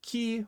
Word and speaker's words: 気: same kunyomi and onomi it's usually almost always going to be pronounced key whether it's used in isolation or when it's used within a compound but key carries so many different